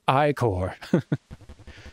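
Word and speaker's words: ichor: tropical chalice i can fill it with magical i-core that's pronounced i-core choose your i-core wisely ah so red will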